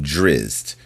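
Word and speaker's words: Drizzt: at odds a tale from The Legend of drizz remember driz is spelled Dr i zzt t for a free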